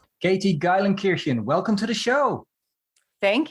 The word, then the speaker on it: Geilenkirchen: how do your compatriots call you we say gyen kirkin yeah so it's it pronounced just how it looks but the German